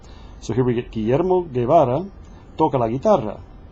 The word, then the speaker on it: Guillermo: So here we get Guillermo Guevara toca la guitarra. And the U just stays silent because all its purpose is there is to make the G hard. It doesn't pronounce.